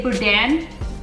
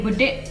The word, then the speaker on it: boudin: So I also ordered okay, so there's different ways that you pronounce this. A lot of people say boudin. A lot of people say boudin. Wait, boudin? Boudin. Boudin and boudin are the most popular two ways that I've heard it. I don't know exactly what to call it. I always say boudin or boudin. It depends on what comes out first.